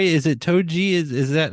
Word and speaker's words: toji: and did I say that right is it toji is is that how you pronounce it yeah tochi or I just say Hector but people like